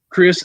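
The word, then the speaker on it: Chriss: marquise chris yeah yeah it is just chris said okay because i know it's got two s's and it throws me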